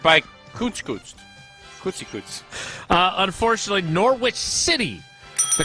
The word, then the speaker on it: Norwich: And Yeah, it's right, Norwich. and now everyone's correcting me correctly. You should correct me. So the W is silent?